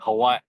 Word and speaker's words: Hawaii: As the locals say, Hawaii. There's like a pause.